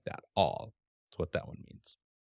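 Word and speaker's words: עַל: All, all. Same as our word ALL in pronunciation. All, except you're going to start it in the back of the throat.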